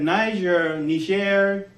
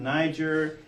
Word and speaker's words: Niger: So Asante in their reading said Niger, that's the French pronunciation, Niger, more Germanic English, maybe Latin for black.